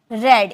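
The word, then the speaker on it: read: मैं पढ़ा था, आई हैड रेड। इसे रेड में प्रोनाउंसिएशन करेंगे क्योंकि रीड फर्स्ट फॉर्म है, सेकंड और थर्ड फॉर्म रेड हम बोलते हैं।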